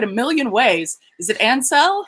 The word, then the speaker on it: Ansell: I can spell it. I know it a million ways. Is it Ansell? Ansell?